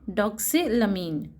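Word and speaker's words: doxylamine: ये वर्ड को प्रोनाउंस किया जाएगा एम्फेटामीन. एम्फेटामीन. नेक्स्ट वर्ड है डॉक्सिलमीन.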